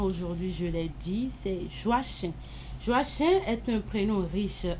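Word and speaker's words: Joachim: C'est Joachin. Joachin. Voilà. Merci de le dire. Joie chien qui s'écrit J O A C H I M.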